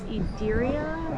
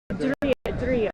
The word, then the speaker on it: Ydria: So it's a YDRIA. He pronounced it for us. It was Idiria, I think. Idiria.